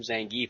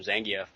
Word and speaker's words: Zangief: Uh in mentioning his name, uh you pronounced him Zangief. I pronounced him Zangf.